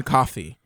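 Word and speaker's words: Coffey: dude named John John coffee right now John coffee yeah I'm coffee um like the drink but not spelled the same not at all yeah that's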